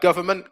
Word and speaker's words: government: tilde's picked up on government came up obviously with the silent n um combustion combustion silent